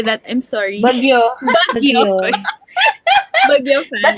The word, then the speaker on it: BGYO: Bagyo.